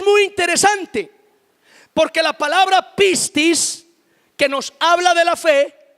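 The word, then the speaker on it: πίστις: En el texto original, la palabra fe en griego se dice pistis.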